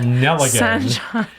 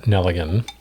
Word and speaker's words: Nelligan: Seymour sanjan okay and Harry L nelligan which rhymes with Gilligan uh but there's no Island here it's uh nelligan and so uh and